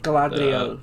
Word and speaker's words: Galadriel: Correct me if I'm wrong, but was it's Galadriel? Is that how you say her name? Galadriel, yes, Galadriel.